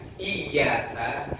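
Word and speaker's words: إياك: Kalau ditulis Indonesia ya y-nya double. Itu artinya iyyaka hanya kepadamu, na'budu kami menyembah, wa iyyaka dan hanya kepadamu, nasta'in kami minta tolong. Itu kalau ya-nya digeser dikit, enggak ditasydid, enggak didobel y-nya, bacanya iyyaka na'budu wa iyyaka nasta'in.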